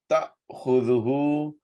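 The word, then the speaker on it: تَأْخُذُهُۥ: La, not, ta'khudhuhu, ta followed by alif, second. There will be a slight pause. Ta'khudhuhu, ta'khudhuhu. Make sure you pronounce alif, not ain.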